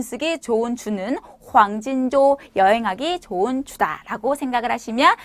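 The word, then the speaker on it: 黄金周: 발음은 황진조라고 합니다.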